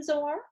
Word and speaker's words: Zoar: Okay, so I got the town name wrong. It's not Zoan, it's Zoar.